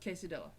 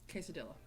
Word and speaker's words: quesadilla: she goes nope it's the same double l it's the same spanish tortillas tortilla and quesadilla quesadilla that's how you say it quesadilla quesad quesadilla but i